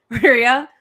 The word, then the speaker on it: Rhea: I said her name wrong. Rhea.